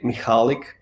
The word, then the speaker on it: Michalik: I told MSU that my name is of Polish origin it's always tricky for English uh native speakers to pronounce so it's actually michalik it's the that is